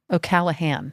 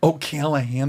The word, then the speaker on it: O'Callaghan: O'Callaghan. O'Callahan. O'Callahan. There's a G in there.